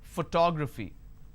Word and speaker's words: photography: Photography. And how many syllables do I have here? Photography. 4 syllables. But in this case, I stress on the second syllable.